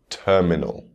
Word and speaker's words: terminal: Words ending in inal, terminal.